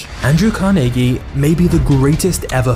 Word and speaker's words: Carnegie: Into abject poverty Andrew carnegi was born in Scotland which is the reason I'm saying carnegi instead of Carnegie because this is how the Scots actually pronounce it but Andrew's start in